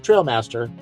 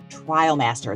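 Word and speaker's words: Trialmaster: a primer for pronunciation it's the inos Grenadier Trial Master not the trail Master Trial Master it's named after a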